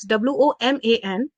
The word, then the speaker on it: woman: where this word w-o-m-e-n there are two words w-o-m-a-n and w-o-m-e-n the first one when there is